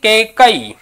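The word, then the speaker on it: कैकेयी: यहां शुद्ध माना जाएगा उसके बाद में देखिए केकई अच्छा शब्द पूछने जाने वाला शब्द है क कई उच्चारण बारबार कीजिए अच्छी प्रकार क क पर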